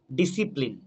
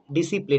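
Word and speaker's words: discipline: ডিসিপ্লিন, ডিসিপ্লিন, এখানে সি কিন্তু silent, ডিআইএসআই আমরা উচ্চারণ করব, ডিআইএসআই ডিসিপ্লিন, ডিআইএসসিআই।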